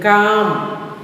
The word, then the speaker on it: calm: Calm, L is silent.